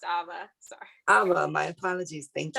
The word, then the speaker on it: Ava: Oh, it's pronounced Ava.